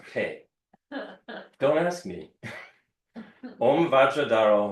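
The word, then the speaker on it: Phat: So it's not fat. Right. It's pronounced Pe.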